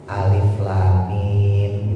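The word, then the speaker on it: الم: Jadi habis lam langsung mim. Enggak boleh. Karena lam kalau kita tulis Pak ada M-nya tuh ada mim mati ya. Terus kemasukan mim berarti menjadi idgam. Dimasukin idgam mimi kalau ditajwid. Jadi dibacanya alif lam mim.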